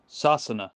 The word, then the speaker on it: Sasana: The Irish Gaelic name for England is, well, hold on, I actually got an Irish friend, Arthur, to pronounce this one for me. Sassana.